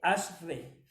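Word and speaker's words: אשר: Se escribe E-S-H-E-R, pero se lee Asher y significa bienaventurado, feliz y dichoso.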